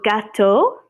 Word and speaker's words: gâteau: Le gâteau. Je voudrais du gâteau au chocolat, par exemple. It's a cake. Un gâteau. It sounds just like cat in Spanish, but it's spelled like this.